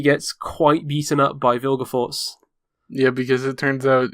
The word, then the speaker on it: Vilgefortz: Yeah, the part where it comes across Geralt protecting Ciri and Vilgefortz, however you fucking pronounce that name. Yeah, it's Vilgefortz.